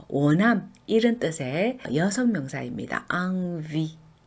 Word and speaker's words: envie: envie, envie 이렇게 발음을 하는데요. eng이 바로 다음에 n이 왔죠. 그래서 또 비강모음인데요. n은 n이라고 발음을 하면 안 되고요. 항상 ang 발음이 나요. 그래서 envie 이렇게 발음을 하셔야 되고요.